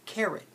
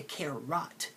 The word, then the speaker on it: carrot: course not you say carat carat count how many syllables are in carrot to write carrot carrot now notice I don't say care rot because the 0 is making a schwa sound it's in the lazy